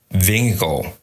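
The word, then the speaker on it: Vingegaard: roll that clip gentlemen this is kasper from denmark the right pronounced nation is vingo oh thank you that's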